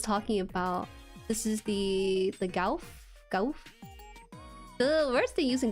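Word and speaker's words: Gouf: Goof? Pronounced goof.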